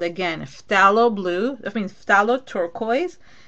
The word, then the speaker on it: phthalo: It's called, again, phthalo blue. I mean phthalo turquoise. Phthalo is PHTHAL, like basically it's like halo at the end. So it's PH and then T like Tom, TH, and then ALO. Phthalo.